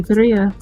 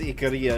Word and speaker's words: Ikaria: Oh, I assume you're still mispronouncing as Ikaria instead of Ikaria. Oh yeah, definitely. Under circumstances that are probably vulgar. Ooh, do tell. Absolutely. So as a side note, generally speaking, the emphasis would be on the first syllable. When things get pulled over to English, we tend to put the emphasis on the second syllable because we speak in iambic pentameter.